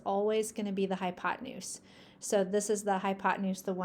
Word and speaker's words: hypotenuse: Okay, let's move on to this weird word. It is pronounced hypotenuse, and the hypotenuse is the third side.